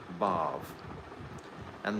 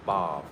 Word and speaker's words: bhav: Take note that it doesn't have a long A at the end of bhav. It's not bhava. If it's bhava, that means the material world.